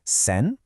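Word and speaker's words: 千: This is sen.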